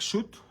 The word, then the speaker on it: soot: So I'm going to use black soot oxide. Did I say it correctly? Soot?